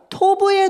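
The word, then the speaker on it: טוב: 네, 저 그림 맨 위에 있는 파란색 그림인데 같이 읽어볼 텐데 그 옆에 발음이 써 있어요. 좀 따라서 읽어주세요. 토브 보이시죠?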